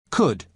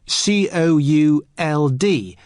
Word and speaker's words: could: listen to the pronunciation could could you spell it cou LD but the letter L is silent could now listen to